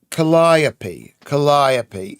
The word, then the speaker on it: Calliope: Calliope is how it's pronounced.